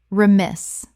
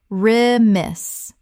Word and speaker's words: remiss: con-tem-po-ra-ne-ous contemporaneous Word 168, remiss. Common mispronunciation, rem-iss. Correct pronunciation, ri-miss. Two syllables with the stress on the second. The first syllable is reduced.